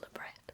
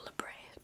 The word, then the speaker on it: labret: I personally really like the vertical labret, or labret, people pronounce it differently.